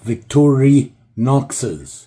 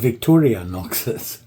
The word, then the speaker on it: Victorinox: uh Victor noxes yeah I said it right this time victori noxes I got shouted at by everybody because I said Victoria noxes it's just me I